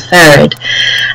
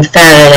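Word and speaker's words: Pharad: In my professional role, I am Vice President of Engineering at a technology company called Farad, and my company, I'm also a co-founder of that company.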